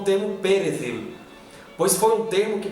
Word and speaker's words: Peredhil: Pé, Re, lembrem do R bem vibrado, e Vil, assim com a língua entre os dentes, igual à pronúncia do TH do inglês, como em these.